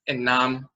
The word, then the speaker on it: enam: So the way that's pronounced in Akan is enam, flesh, meat of any animal.